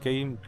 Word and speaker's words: Khwm: Alright, guys, check him out at Royal Kim and Kim is KHWM and the H is silent.